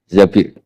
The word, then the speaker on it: Zabir: Kemudian saya nikah sama Abdurrahman bin Zabir di hadis ini bukan bacanya bukan Zubair tapi Zabir.